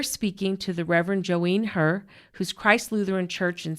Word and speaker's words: Herr: And you can call me Joene, and it's Herr auf Deutsch.